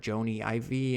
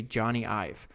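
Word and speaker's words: Jony Ive: So sometimes I' I had actually had to look up how to pronounce his name because I've heard it Joanie Ivy and all this other stuff. But according to Google, it's supposed to be Johnny IV. Hopefully that's right.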